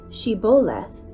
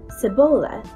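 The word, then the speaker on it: shibboleth: would say to him then say shiboleth and he would say sebola for he could not pronounce it right then they would take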